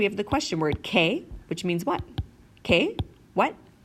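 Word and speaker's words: qué: think quick right but in Spanish it's just like is in Kiwi or kick there's no quoi to it alright so for example we have the question where it K which means what okay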